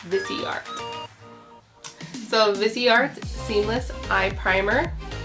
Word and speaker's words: Boxycharm: So it's called Boxycharm.